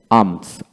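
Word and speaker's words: alms: পি এল এম পাম তারপরে এল এম এস আমস আর্মস এ এম জেড আমস ভিক্ষা তারপর আসেন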